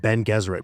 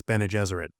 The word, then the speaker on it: Bene Gesserit: a religious myth that Ben Gesserit planted a long time ago. Whoops, my bad, it's Bene Gesserit.